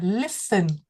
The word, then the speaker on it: listen: Và về phát âm thì chú ý cho cô là nghe thì chúng ta sẽ nói là listen. Chúng ta sẽ không bật cái tờ lên nhé, cái này nó gọi là T, silent T, là T câm.